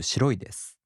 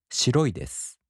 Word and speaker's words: 白いです: In both types, the accent falls on the mora before I. For example, the downstep type word 白い turns into 白いです.